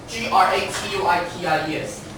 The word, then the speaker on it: gratuitous: Gratuitous. The stress falls on this syllable.